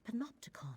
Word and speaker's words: Panopticon: Could the enemy be seeking the infinite panopticon?